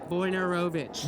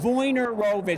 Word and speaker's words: Wojnarowicz: Wojnarowicz. Wojnarowicz. Yeah. I have been reading that name for 35 years, and I've never pronounced it. No. Wojnarowicz.